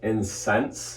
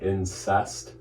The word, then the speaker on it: incense: It is pronounced incense, not incest.